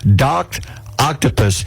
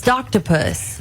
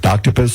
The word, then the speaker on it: Doctopus: there you go to Doc Octopus and you can follow the account has more than 425,000 followers on Tik Tok watching the boy with his octopus you said it wrong what it's doctopus doctopus yes oh I saw